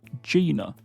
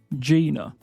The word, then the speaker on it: Gina: Next up, we have our girl Gina, and this is said with a soft G, so this is Gina. Gina.